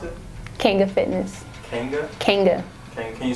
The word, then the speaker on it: Kanga: Kanga is spelled Kanga, short for, or you can say short for kangaroo. So it's not Kanga, not whatever else people come up with. It's Kanga Fitness, Kanga. Now, why is it short for kangaroo?